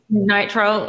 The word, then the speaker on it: nitrile: 95 percent alcohol powder free how do you pronounce that nitrite nitrile okay yup that gloves like hand tools to